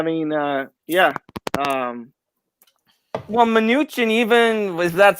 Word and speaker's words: Mnuchin: no but i mean uh yeah um well mnuchin even was that's how you say his name